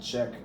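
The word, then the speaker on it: Čech: But when you get up to Banach and then stone check, stone is spelled as stone and check is CECH.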